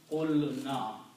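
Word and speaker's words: قُلْنَا: So it becomes qulna. You take out waw, then it will be pronounced qulna.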